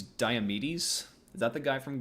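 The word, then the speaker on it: Diomedes: Thou must steal to flesheater horse from diamonditus. She pronounced. Yeah. P pronounced guys. I think she means diamedes.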